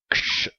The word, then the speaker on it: க்ஷ்: முதல் எழுத்து க்ஷ், சரியா? இக்குன்ற உச்சரிப்போட ஷும் சேர்ந்து வரணும், க்ஷ் அப்படின்னு.